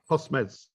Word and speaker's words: Postmes: I don't really know how to pronounce that. Postmes. Postmes. Right. Postmes.